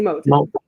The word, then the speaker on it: Motto: you say your last name uh molon molon molon anyway I just want to say thank